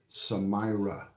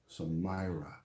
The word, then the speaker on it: Samira: I said it wrong the first time, but now I won't say it wrong again. Samira, Samira. How are you?